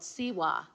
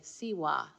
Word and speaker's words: Tsewa: And the Tibetan word for this warmth is called siwa. And it's spelled Tsewa, siwa.